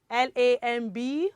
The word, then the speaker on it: lamb: Now, for the first word, L-A-M-B. Now, this follows the rule that says that when B comes after letter, it is silent. So L-A-M-B is lamb.